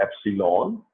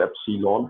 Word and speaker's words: epsilon: इसको हम कहते हैं एप्सिलॉन, EPSILON। कुछ लोग इसको एप्सिलॉन पढ़ लेते हैं, कुछ एप्सिलॉन पढ़ लेते हैं, ये प्रोनाउंसिएशन डिफरेंट है।